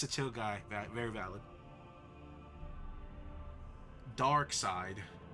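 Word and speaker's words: Darkseid: So that was dark sid.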